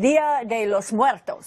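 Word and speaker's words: Día de los Muertos: It is pronounced, tell me if I'm wrong, Dia de los Muertos. Yes, that's actually the holiday.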